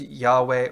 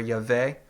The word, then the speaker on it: Yahweh: to pronounce it, but many today will pronounce it with an A and a W, or an A and an E sounds, which becomes Yahweh or Yahweh.